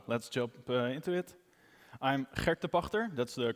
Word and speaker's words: Gert de Pagter: talk so uh let's jump into it i'm hector pachter that's the correct pronunciation gert is also fine online i'm known as